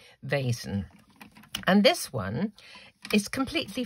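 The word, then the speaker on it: Vaessen: is um a basin i think you pronounce it v-a-e-s-e-n vasen and this one is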